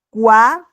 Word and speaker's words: quoi: Por ejemplo, aquí pueden observar que he pronunciado voir y aquí he pronunciado quoi. Cada vez que tenemos la OI en francés, eso va a sonar como UA. Quoi, y esto es voir, ¿ok?